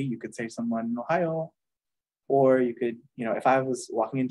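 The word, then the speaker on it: ohayō: the morning we say Ohio gozaimasu Ohio gozaimasu uh if you just go with Ohio that's casual and it sounds like the state right Ohio if you literally be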